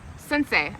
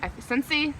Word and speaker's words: Scentsy: a few samples from sensei scentsy since i have i had people like rip me a new one for pronouncing that wrong one time i enjoy sensei